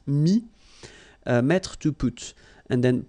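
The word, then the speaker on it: mis: Mi, same advice here, don't pronounce the final S like we had here. T is not pronounced, S is not pronounced. Mi, mettre, to put.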